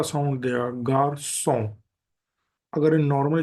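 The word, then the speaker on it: garçon: क का एंड सा तो अगर ये नॉर्मली अगर ये एक्सेंट नहीं है तो ये हमें स्पेलिंग में साउंड देगा गार कोन लेकिन अगर एक्सेंट है तो का को चेंज कर देगा सा में ग सो गर सो means boy and second example इसका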